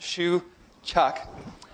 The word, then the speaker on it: Shewchuk: advanced programming I'm shuuk my last name is pronounced Shu Chuck my email is Jrs cory.